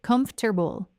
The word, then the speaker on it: comfortable: In natural English, the word comfortable is said in 3 syllables, not 4. It sounds like comfortable, comfortable. The whole middle section of the word, the forte part, gets compressed into just ter.